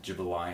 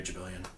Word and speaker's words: Jibilian: Jabilian is spelled Jibilian. Yep. Okay. JRJ thinks your name is pronounced Jibilian. Jibilian. I ain't Jibilian.